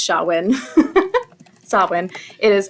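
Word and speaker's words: Samhain: because it's Celtic so there's no W in that even though it's pronounced shawin sawin it is s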